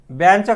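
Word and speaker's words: ban: बॅनचं काय होईल? बी ए एन. बाण नाही म्हणायचं बघा त्याला, बॅन.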